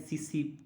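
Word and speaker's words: tsetse: है, तो ये है सीसी मक्खी, ठीक है, टी साइलेंस है यहाँ पे और ये वाला टी साइलेंट है, तो सी, ठीक है।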